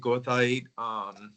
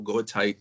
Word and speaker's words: goethite: And it has all these other minerals in it, like hematite, goethite, or goethite, depending how you pronounce it.